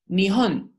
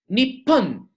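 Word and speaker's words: 日本: kana is knee knee so Japan is meehan Nihon although you can also hear the word Nippon Nippon Nippon is a different variation of Nihon but we will we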